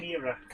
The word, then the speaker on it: Chimera: Right, Chimera.